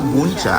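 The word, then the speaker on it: bún chả: Ah buncha.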